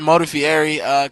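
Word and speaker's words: Modafferi: Regardless, guys, we've got Modafieri coming up.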